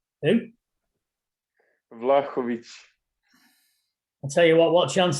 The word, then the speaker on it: Vlahovic: Vlahovic. Who? Vlahovic. I'll tell you what chance have we got if you can't pronounce it properly?